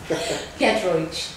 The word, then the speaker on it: Giedroyc: of next week's play slice and it's Mel gidro have I pronounced that rightel almost say it again getro getro I do big no that's good um